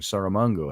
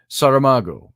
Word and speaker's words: Saramago: been saying it wrong sarah mango i've been saying i don't know where i picked up the n saramago or module i'm not